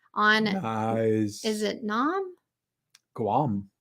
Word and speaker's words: Guam: guys is it Nam Guam you do pronounce the G okay I think um